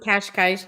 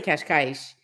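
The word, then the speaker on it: Cascais: I always correct people when they say, someone said Kashkaish to me last night. Really messed up. I forget what she said. I say Kashkaish.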